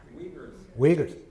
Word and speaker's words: Uyghurs: And you could point to the Uyghurs. I don't know how to pronounce them, but they have a shit life thanks to the Chinese, and they get Uyghurs, thank you.